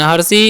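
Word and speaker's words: her: क्या लिखा हुआ है, HIS का उच्चारण ह, आई का उच्चारण हर्षी, एस का उच्चारण ज, तो हो गया हिज।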